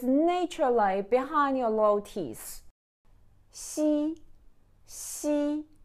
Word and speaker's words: xi: behind your low teeth c c not she she okay now it's your